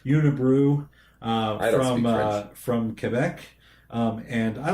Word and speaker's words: Unibroue: It's spelled Unibroue. Right. And that looks like Unibrow to me. But it's Unibrow or Unibrew. Unibrew, whatever. Unibrew from Quebec.